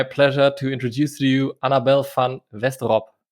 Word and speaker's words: Annabel van Westerop: to introduce to you annabelle fan westerop that's correct was it close enough that sounds pretty good absolutely thank you i